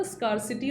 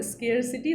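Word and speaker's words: scarcity: सुबह भी मैंने आपको बताया था स्कारसिटी और स्केयरसिटी दोनों एक वर्ड होते हैं, आप कैसे भी प्रोनाउंस कर सकते हैं।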